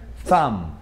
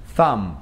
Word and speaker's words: thumb: Essa letra B, ela não é pronunciada. Por exemplo, esse dedão aqui da mão que pronuncia thumb. Thumb. Tem um B no final? Tem, mas a gente não vai falar ele.